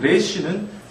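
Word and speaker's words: ר: 그러니까 각지지 않게 쓰는 것을 유의하시고 아까 라메드 같은 경우에는 L 발음이 난다 그랬죠. 지금 레시는 유음입니다.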